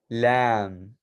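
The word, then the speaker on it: لام: then next we have the letter lamb so basically like very you know like lambed animal that's exactly how it sounds but uh we're going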